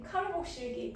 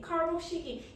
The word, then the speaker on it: 카복시기: 샌드리 카르복실기. 카복시기. 이게 영어 발음이라서 카복시기. 카복시기.